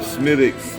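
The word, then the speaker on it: Smithwick's: too overbearing yeah okay I got the smittix and it's spelled Smith wigs but it's pronounced smittix now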